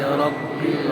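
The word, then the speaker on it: ربِّ: Alhamdulillahi Rabbil Alamin. في كلمة رب لابد أن أشدد الباء فتأخذ وقتا أطول من غيره.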